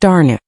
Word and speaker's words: Dana: As she grew, Dagmmer became Dana, pronounced Darnu.